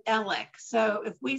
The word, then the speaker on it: Alex: Alec it is spelled a-l-e-x most of us in the country pronounce it Alex but from where he lives in that area they call him elec so if we say